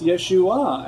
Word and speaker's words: Yeshua: that's not his name his name's not yeshu it's yeshua and there's certainly an